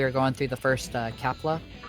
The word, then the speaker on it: Kalpa: going through the first kepler or kalpa um is it is it yeah it might be kalpa i don't like that now i have to flip through the guide it's like have i been saying it wrong it wouldn't be the first thing they jump through this hole that takes us back it is kalpa alpa um but we